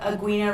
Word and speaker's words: Aguina: My Facebook is Aguina. The U's silent though. Okay, well the U is silent, obviously.